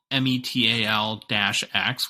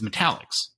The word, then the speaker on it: Metal-X: even though it's spelled METAL-X, where you would think by looking at it, it's like Metal X, the actual pronunciation or correct pronunciation of the name of the card is Metallics, which means for the